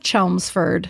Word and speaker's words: Chelmsford: We got to take them anywhere we can because the odds of the fact that was supposed to be a silent L and a silent fucking D or whatever the tricks of the trade are.